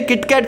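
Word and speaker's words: キットカット: वहाँ से तेरे लिए किटकैट लेके आया। इन सब का रीजन है किटकैट का नाम। जापान में इसे किटो काटो प्रोनाउंस किया जाता है, जो जापानीज सेइंग किटो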